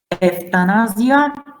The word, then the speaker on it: euthanasia: And in words of Greek origin, it's like ev. For example, euthanasia, eutoxia, nevralgia, nevrogenes, pseudoanemia.